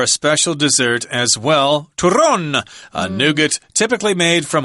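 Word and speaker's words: turrón: the special dessert and it's called ton or Turon if you want to roll your RS there uh it's a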